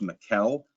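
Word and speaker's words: Mikel: Now, it's properly pronounced Mikuel Harry, but he often went by Michael.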